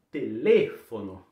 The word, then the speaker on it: teléfono: Fechou o E, não é teléfono também não, viu? Teléfono, fecha o E e a sílaba tônica está em outra posição se a gente comparar com o português, né?